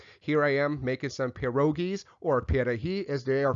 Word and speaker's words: pierogi: Here I am making some pierogies, or pierogi as they are pronounced, and pile up some onions, and you got sauerkraut on the side, and enjoy the sour cream.